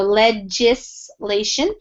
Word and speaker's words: legislation: when we pronounce this it's a soft G almost like a j so legislation and that just means